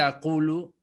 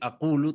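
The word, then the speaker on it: أقل: Entonces, en vez de aqulu, tenemos aqul, porque quitó de la L la vocal.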